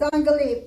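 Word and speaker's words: אנגלית: It's Anglit, but you're gonna say it fast. Anglit. Anglit. So you don't really hear the second one there.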